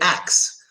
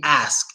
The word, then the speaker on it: ask: name but um yeah we say acts and in the TV show Futurama they make fun of that they absolutely make fun of that so in the TV show Futurama they always pronounce a loud and clear so we can hear it so they predict that in the future everybody will say AXS and it will no longer be ask it will only be Axe